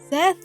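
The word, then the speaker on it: Szeth: I'll be focusing on Shallan, Kaladin, Dalinar, and Seze? Sez?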